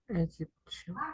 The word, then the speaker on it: Egyptian: When you have T plus IO and T plus IA, you pronounce this T like sh.